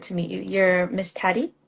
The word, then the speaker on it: Taty: You're Miss Tatty, right? Is that how I pronouncing it? Yeah. Yeah, it's Tati, but you can say Tat or Tabby. But yeah, it's Miss Tati.